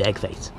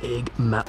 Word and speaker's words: Eggman: And I was going to defeat Eggface. Well, you see, it's actually pronounced Eggman.